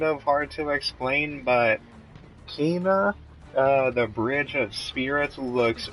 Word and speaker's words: Kena: But the next game that I'm pretty sure I want is called, how do you pronounce that? Kena, or Kana? Yeah, Kena Bridge of Spirits.